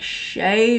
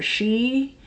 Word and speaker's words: Sidhe: Yeah, so Sidhe, I believe it's pronounced like Shay or she.